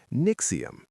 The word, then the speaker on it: NXIVM: NXIVM, say it like Nexium, was a self-help and executive coaching company started in the late 90s by a man named Keith Raniere.